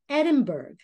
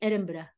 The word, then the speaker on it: Edinburgh: went to Scotland and it's not Edinburgh that is incorrect I understand and they don't they don't take it very lightly if you say it wrong so it's if you want to say it just like a Scot you would say Edinburgh all right Edinburgh just